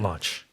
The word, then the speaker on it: launch: like uh a rocket launch exactly launch l n CH and not like our that's lunch yes exactly different pronunciation launch lunch right to launch